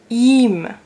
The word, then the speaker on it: ihm: And if it's an I and an H, also the same thing, you don't pronounce the H.